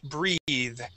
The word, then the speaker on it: breath: as breath okay now if there is an e at the end of this word that would then be breathe the verb to breathe in this word it is breath short e okay so um last